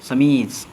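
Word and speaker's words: chemise: का ध्वनि उत्पन्न होगा सी एच ई एम आई एस क्या पढ़ेंगे इसको समीज क्या पढ़ेंगे समीज समज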